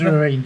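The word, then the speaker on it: Loreen: Lorraine Zineb Nora Tahari, I think so you pronounce it. Born in No, October. it's Lorraine.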